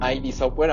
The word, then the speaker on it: id Software: Doom es desarrollada por id Software o ID Software, aunque pues los mismos desarrolladores han dicho que se pronuncia id Software.